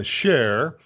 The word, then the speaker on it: shaar: the website that's domain you pronounce it share so this is really